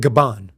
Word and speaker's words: Gabon: Kuwait, Iraq, Algeria, and Gabon. Or not Gabon. Gabon. I said it right the first time, Gabon.